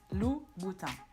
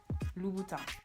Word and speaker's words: Louboutin: course, the red bottoms Louboutin. It's not Louboutin, it's not Louboutin, but Louboutin. Louboutin. So just like in Vuitton, the N at the end of the word is not pronounced. Louboutin. Louboutin.